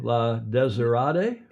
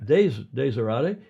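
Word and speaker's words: La Désirade: La Desirade? Yeah. The accent's on the first syllable. The desert. Desirade.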